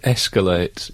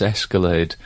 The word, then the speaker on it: escalate: word but it's uh the word escalate she says Escalade but it it only